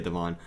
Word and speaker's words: Devin: i think it's seven i mean it's spelt devin but people say devon 57 is a boba